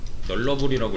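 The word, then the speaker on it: nullable: 이게 이제 널러블이라고 읽거든요.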